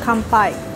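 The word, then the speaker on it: 乾杯: Kanpai.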